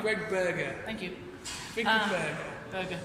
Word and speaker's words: Berger: Birger Grimlock is on Facebook. He was lovely. He was, yeah. It'd be even better if we pronounce his name right. Greg Berger.